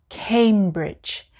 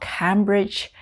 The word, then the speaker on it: Cambridge: go number one cambridge cambridge it's not cambridge it's cambridge cambridge number two now what